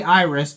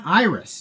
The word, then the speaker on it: Irys: Every time I say Irys, just know that it is spelled IRYS.